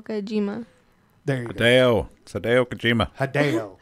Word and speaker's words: Kojima: before me John today Okajima there you go how do could you know he is a very famous game maker over there Japan he descent twice I think he mispronounced it so Hideo Kojima Dale today Okajima a